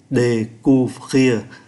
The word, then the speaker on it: découvrir: Kí tự ơ có dấu sắc accent aigu đọc là ê, ô với u đọc là u, découvrir.